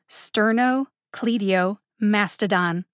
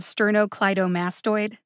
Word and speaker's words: sternocleidomastoid: page that i'm on sterno cledio mastodon he says instead of sternocleidomastoid i ask him to